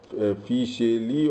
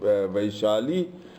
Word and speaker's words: Vaishali: And folks, I found 18 stupas Hyun Sang describes about Fisheli, or the elusive Vaishali, mispronounced Vaishali.